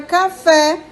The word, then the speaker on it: café: posição da sílaba tônica oxítona é a palavra que tem a última sílaba tônica então café é uma palavra oxítona porque a tônica é a última paroxítona é a palavra